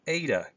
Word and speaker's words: eta: like the English letter yes in but it's pronounced ADA then theta yota another of our vowels Kappa